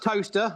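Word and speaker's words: Towcester: so it's actually SP it's pronounced toaster like kle but you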